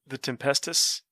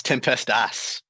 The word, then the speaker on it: Tempestas: Is it still the Tempestus? It's Tempestas.